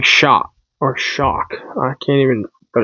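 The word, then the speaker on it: Shough: I was saying Shaw, but I heard somebody say Shock today. Tyler Shock. I was like, "Okay, well, guess I've been saying it wrong."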